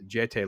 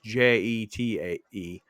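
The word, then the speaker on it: Jeté: So I apologize if it's Jete Lawrence. It's Jetae, and she is phenomenal as Ellie.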